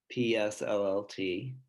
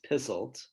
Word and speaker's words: PSLLT: to pronounce it um one is as an initialism psllt the other is as an acronym and it comes out as pizzled and this was created